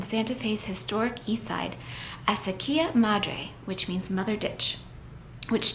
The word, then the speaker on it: Acequia Madre: The casita is located on an iconic street in Santa Fe's historic east side, Acequia Madre, which means mother ditch, which takes its name